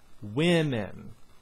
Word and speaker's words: women: And then O sometimes is pronounced as a kind of I sound, like in women.